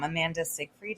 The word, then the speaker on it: Amanda Seyfried: And I feel like in Mean Girls, Amanda Seyfried, is that how you pronounce her name?